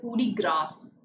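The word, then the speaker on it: coup de grâce: some signs to focus on pronunciation and they pronounce it as foodie grass hoodie grass grace is also accepted because it has been adopted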